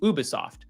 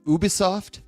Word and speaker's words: Ubisoft: Ubisoft. Ubisoft. Yeah. I was always I was like Ubie. Ubie. Uh Ubisoft. You can say Ubisoft. It doesn't matter. Americans say Ubi, you know, Ubisoft, but it's Ubisoft. Um cuz I'm cultured.